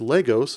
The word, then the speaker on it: Lagos: Wow real coincidence lol it's pronounced Legos and it has a